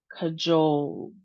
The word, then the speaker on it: cajole: Two syllables and we have the long O sound, jole sound. And the second syllable is emphasized. So, let's try it. cajole cajole cajole It's actually the same sound as my last name.